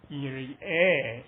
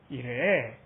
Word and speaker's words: 이레: 그래서 이스라엘식으로 말을 하시면 이레 이렇게 발음합니다. 이레. 이거를 우리나라식으로 표현을 할 수가 없잖아요. 왜냐하면 이거 우리나라 이런 거는 발음을 못 하잖아요. 우리는 반드시 르 해서 으 발음을 붙여야 되잖아요. 으를 빼야 돼요.